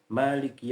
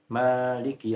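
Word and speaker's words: مالك: Sebagian qurra membaca Maliki Yaumiddin dengan meniadakan alif setelah huruf mim. Sementara sebagian qurra lainnya membacanya dengan menggunakan alif setelah huruf mim menjadi Maliki Yaumiddin. Kedua bacaan itu benar dan mutawatir dalam qiraat sab'ah.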